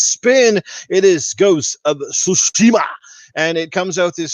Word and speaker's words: Tsushima: It's Tsu, T-S. Tsu. Yeah. It's a silent T, right? It's like no, it's not silent. You have to pronounce the T with the C, with the S. Yeah. Okay. Tsu, like your Ghost of Tsushima.